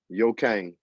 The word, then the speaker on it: Yokane: So let's start off by setting the record straight with the proper pronunciation of your name. Yokane.